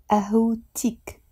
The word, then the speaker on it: قهوتك: أهوتك. أهوتك. Again here, I'm not saying أهوتك. We are pronouncing the T. أهوتك.